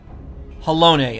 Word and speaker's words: Halone: your nation's crazed Crusade halone okay I was just saying hello I wasn't pronouncing the e at the end you speak to me